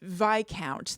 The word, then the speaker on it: Viscount: Claire commented and said that it's Viscount. The S is silent.